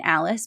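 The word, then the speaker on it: Alys: So Charlie's Delights is in Alice Beach. Alice is spelled A L Ys in case anybody is confused when they're googling that.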